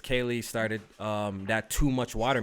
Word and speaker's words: Kaley: oh I'm sorry Eric I hate how you pronounce here your little of your she attack frantic kyle i calli Kayle Kayle yeah I didn't Kaley is Kaley okay tell you what Kaley Cuoco